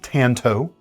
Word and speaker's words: tanto: And yes, I do pronounce it Tanto, not Tanto, because Tanto is closer to the Japanese pronunciation, so I've always tried to be respectful in that regard.